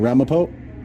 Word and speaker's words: Ramapo: How do you say it? The city's name. The town of Ramapo. I'm sorry? This is the town of Ramapo. Ramapo?